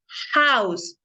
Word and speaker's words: house: Por ejemplo, aquí, house, house. Vamos a decir a house. House, porque suena como si fuera una J, entonces a house.